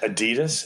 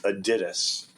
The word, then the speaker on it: Adidas: oh I love your Adidas and they'll be like you mean Adidas and they're and you're like oh no no no the credit the correct German pronunciation is Adidas I'll say how do